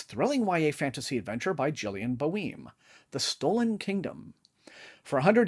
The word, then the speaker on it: Gillian Boehm: It's called The Stolen Kingdom by Gillian Boehm, I believe is the pronunciation. It says, nothing is quite as it seems in this thrilling YA fantasy adventure by Gillian Boehm.